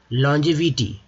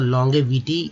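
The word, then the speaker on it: longevity: लॉन्जेविटी, लॉन्जेविटी यहाँ जी का उच्चारण जो है दोस्तों ज के रूप में हो रहा है, ग के रूप में नहीं करना है, जी का ज का ही रूप में।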